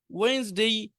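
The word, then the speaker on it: Wednesday: Friday আবার বলবো Saturday Saturday Sunday Monday টিউসডে ওয়েনসডে Thursday Friday বাক্য পড়ার জন্য এগুলো বলতেছি বাক্য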